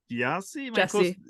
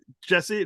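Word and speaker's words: Gyasi: have actors like Rufus Su krie Russell David yasi Jesse that's how you pronounce it yeah I was not even close okay that's okay I wasn't either I yeah and David Jesse so what was experience like on set with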